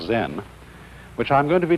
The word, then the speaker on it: Zen: Zen, of course, is a Japanese word, and it's spelled Z-E-N. And that is the Japanese way of pronouncing the Chinese word Chan. And this in turn is the Chinese way of pronouncing an Indian Sanskrit word, dhyana.